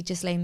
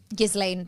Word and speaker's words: Ghislaine: Maxwell who, it might be Ghislaine Maxwell's father, I don't know, but he died in like the 90s or something.